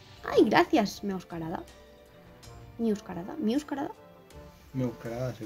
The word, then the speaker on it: Meowscarada: Meowscarada, se pronuncia así. Meowscarada.